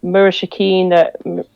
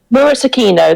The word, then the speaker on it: Murasakino: I was going to say, with prestidigitation, you could go to Murashikino, if that's how it's pronounced. Murashikino, is it? Yeah, Murashikino. Murasakino, there we go.